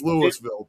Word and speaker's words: Louisville: exact same name, but that's not how we pronounce it over here. It's Louisville, period.